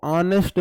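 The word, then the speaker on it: honest: देशराज गुर्जर बताओ मेरे भाई आप बोलोगे जी ऑनेस्ट में एच तो साइलेंट है। इसको ऑनेस्ट पढ़ा जाता है।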